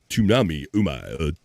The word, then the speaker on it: tsunami: Kamchatka Peninsula was also the location of a major earthquake and tsunami. Tsunami. You pronounce the S in tsunami. You say tsunami.